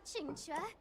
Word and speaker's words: Qingque: Hurry up, Chingchua.